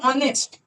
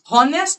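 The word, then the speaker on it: honest: किु उच्चारण वोवेल मत देखो एक शब्द तुम सुनो ऑनेस्ट ऑनेस्ट सुने देखो ऑनेस्ट मेनली की दिए शुरू हो एच दिए ए बार तुम भो करे फॉलो करो देखो एच कनतुए हो consonant intersection HA consonant section किंतु हम जो उच्चारण कोची भो करे हम ऑनेस्ट बोलची होनेस्ट तो बोलची हम की बोलची ऑनेस्ट होनेस्ट बोलची ना तले जो हम ऑनेस्ट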